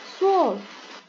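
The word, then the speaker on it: zwölf: 11 adalah L, 12 adalah soul. Hati-hati O-nya Om laut ya ini.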